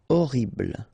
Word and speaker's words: horrible: utile horrible ok remember we don't pronounce h here horrible immense final pronounce immense